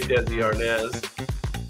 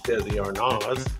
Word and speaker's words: Desi Arnaz: The robots spell it A-R-N-A-Z, just FYI. We all say Desi Arnaz. Well, I guess it's Desi Arnaz.